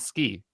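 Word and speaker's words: 好き: So to like is if we were to spell it out in Romaji, would be Suki. But we dropped was it the U? The ooh. The U, right? And then becomes ski.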